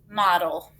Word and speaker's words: model: that doesn't sound right it kind of sounds like the word model it is the word model what happened to that e is it got schwab it's being kind of lazy model has that gentle sound do you hear that